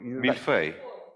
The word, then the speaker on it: millefeuille: You know, Millefeuille. It's millefeuille. I'm not sure how you say it. Can you say it properly? That one, yeah. Millefeuille.